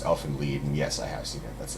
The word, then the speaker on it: Elfen Lied: What have you seen Alvin Lad? Elfen Lied. Or whatever it is. Yeah. It's supposed to be German, right? So it's pronounced Elfen Lied, and yes, I have seen it.